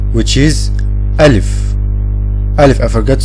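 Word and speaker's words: ألف: To pronounce this word, you have to open your mouth and say it from your throat. Put your hand on your throat and open your mouth and say A. A. Alif.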